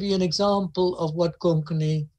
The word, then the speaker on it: Konkani: So let me give you an example of what Konkani, as it's pronounced in Cape Town. Konkani is the way it's said.